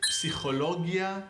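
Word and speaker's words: פסיכולוגיה: You gotta say the P. In a lot of words, like Greek words, where you pronounce the P, like in English, the P is silent in the word psychology. But in a lot of languages, they pronounce it. Hebrew is one of them, by the way.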